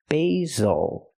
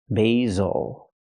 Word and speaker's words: basil: Use a long a sound for the first syllable like say and day. B. Basil. The S makes the Zz sound like zebra.